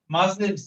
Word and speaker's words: Muslims: মাজলিমস, মাজলিমস, এম ইউ এস, এস এর উচ্চারণটা ব্রাজিলের জেড এর মতো হবে।